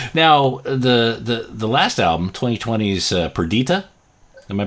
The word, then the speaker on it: Perdita: Now the last album, 2020's Perdita. Am I pronouncing that right? Yes. Perdita, yeah.